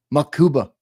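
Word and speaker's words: Mukuba: I spelled his name wrong in the thumbnail. I thought it was uh ma. It's mu makuba.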